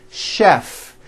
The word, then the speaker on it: chef: things even more difficult there are a couple of words that are spelled with ch and are also pronounced with the sh sound words like chef and the City of Chicago okay having said that